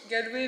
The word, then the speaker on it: Galway: À Galway. Comment tu dis? Galway, mais apparemment c'est Galway. Galway en anglais. Faut le prononcer à l'anglais en fait.